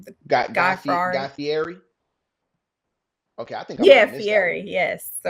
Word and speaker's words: Fieri: I mean, And the guy Ferrari, however you say his name, the guy Guy Ferrari. Fieri.